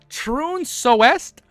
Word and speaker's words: Trunsoest: I'm not purposely saying turn like when you turn left. Like I'm trying. It's Trunacest. Oh my god. Trun soest. I said it right.